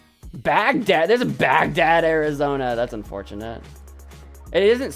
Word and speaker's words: Baghdad: There's a Baghdad, Arizona. That's unfortunate. It isn't spelled the same as the country or as the city. Uh, but it is like literally a bag and a dad.